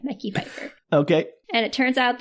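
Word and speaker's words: Mekhi Phifer: I believe it's Michelle Fefeifer, Daniel. It is not Michelle Fefeifer. M E K Hi. Mecky Feifer.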